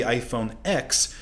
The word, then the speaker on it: iPhone X: it is an x apple intended it to be pronounced as the roman numeral 10 rather than the letter of the alphabet and this confusion is